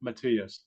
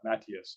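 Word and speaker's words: Matías: It's Subriel Matias or Matias.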